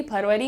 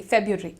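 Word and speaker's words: February: आप या तो बोल सकते हैं फरी या फिर आप बोल सकते हैं फेब आर हटा दो एफ ई बी के बाद वाला जो आर है ना वो हटा दो आसान हो जाता है एक्चुअली फेब राइट फ्यूरी फरी राइट या तो आप फेबरी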